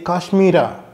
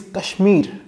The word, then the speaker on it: Kashmir: We in Kannada say Kaashmira however the actual name is "Kashmir".